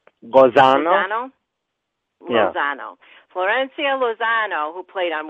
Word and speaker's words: Lozano: Lozano.